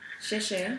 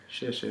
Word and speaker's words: 谢谢: 谢谢 There you go. Good. She did that one very, very well. Xie xie is very, very good.